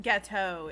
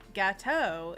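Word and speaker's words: gâteau: i said that right but ghetto is not the correct pronunciation for the word gato but gateau is a great kind of cake do you know that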